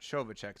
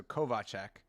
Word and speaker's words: Kovacek: Not Shovacek, so Kovacek. Oh, he's a Liverpudlian.